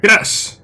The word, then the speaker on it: Crush: Vale, pues aquí parece que tenemos al primer jefe, Crash. Que sí, que se llama como Crash, como Crash Bandicoot, pero se escribe con U. Pero bueno, al fin y al cabo se llama igual, Crash.